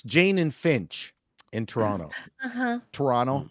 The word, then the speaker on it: Toronto: pronouncing it correctly so you don't say the other T you just go Toronto no T that's how you know